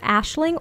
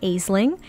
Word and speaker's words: Aisling: Now I've heard this pronounced Ashling or Aisling. It's whatever pronunciation you choose, but this is their one and only child.